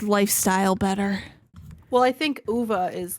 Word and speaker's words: Ove: listened to it and the narrator said UVA and I was like why are you getting fancy but then I realized that I'm pretty like yeah it's it's like a Swedish pronounced pronunciation all right so I'm